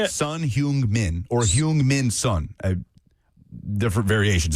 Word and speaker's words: Son Heung-min: Son Heung-min. He's probably the best Asian player of all time. Son Heung-min? Is that how you say it? Son Heung-min, or Heung-min Son.